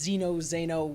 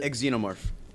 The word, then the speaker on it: xenomorph: honestly never learned how to say this it's Zeno Zeno whatever it is the xenomorph that from Alien oh okay yeah I just